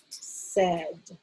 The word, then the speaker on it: said: And again, I'm using orthographic mapping here because this word is not spelled, it's not spelled with an E as we think it should be. This sound is spelled A-I. A-I. So, ed. I'm going to ask you to pick up your wand, and we're going to say said.